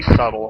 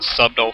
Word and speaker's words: subtle: you know that's really subtle right there I always wonder why you didn't pronounce the b in subtle I always pronounced it subdo for a while it's